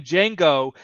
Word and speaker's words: Django: so what's your name Django he's he asked him to spell it and then he says the D is silent and that's when Luigi